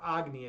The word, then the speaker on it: Agni: I mean a my name my name is uh or Aggony as they pronounce it in uh in Hindu mythology.